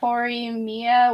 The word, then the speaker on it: Horimiya: I will not be able to pronounce that. Horimiya won.